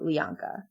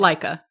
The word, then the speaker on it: Laika: Also made by Lianka. Which is the studio. Yes. Laika. Yeah. Laika. Oh, is that what it is? Yeah. All right. Well, I just pronounced all the vowels.